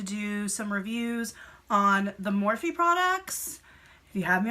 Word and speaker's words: Morphe: me the other day say more if I has said more for years and you think as a makeup person I would know how to say it correctly and that was morphe but I didn't but now I do so I will not make that mistake again catch me saying it